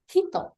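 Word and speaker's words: 人: Nah, tapi kalau kanjinya berdiri sendiri dia dibacanya Japanese reading. Cara baca jepangnya kayak ini kanji. Kanji ini kalau berdiri sendiri dibacanya hito.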